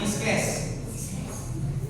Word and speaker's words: Pisces: Dibacanya Pisces atau jenis ikan.